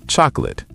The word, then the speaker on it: chocolate: No, 2 syllables. Chocolate. Chocolate. Where did the co go? Dropped. Native speakers say chocolate.